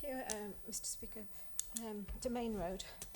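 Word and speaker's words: Demesne Road: um Mr Speaker um domain road is the way you pronounce it um not desame um so the minor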